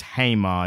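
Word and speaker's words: Jaime: Whereas, unfortunately, and I think it's as correctly pronounced, but we were doing it incorrectly on the episode, Hamey or Hamey, I think is how people refer to him. We said Jamie on the episode, but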